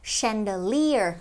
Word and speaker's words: chandelier: Tuy hình thức ấy thì nó là ch nhưng mình không đọc là mà mình sẽ đọc với âm vậy từ này sẽ là chandelier, trọng âm số 3 nhé.